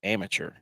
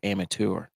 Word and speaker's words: amateur: Is it amateur or amateur? It's amateur. Amateur. Amateur. I mean, you're pronouncing the tour like the PGA Tour, but it's amateur. Isn't it? How's it spelled? AMA. TUR. No, that's caveman spelling. AMATEUR. Amateur. No. Like a saboteur.